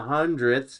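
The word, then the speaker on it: hundredths: So the hundredth's ths that's how you say it.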